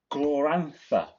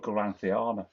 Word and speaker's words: Glorantha: It's Glorantha. Glorantha. I always call it Gloranthiana for some reason.